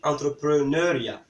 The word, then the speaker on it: entrepreneuriat: Par contre, on ne dit pas entrepreneuriat, on dit entrepreneuriat. Donc, entrepreneuriat, en fait, ressort du mot entrepreneur.